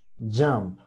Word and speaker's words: jump: Jump. Jump. Jump, ¿vale? Jump. Se escucha una A y también se escucha una O.